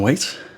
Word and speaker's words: Whaite: And today we have with us John Wait. Did I say that right that time? Yeah. Did I? I was saying it wrong before.